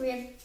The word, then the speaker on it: rebel: Which one's strong? The first one. Rebel. No, first syllable. Let me hear it, the first syllable.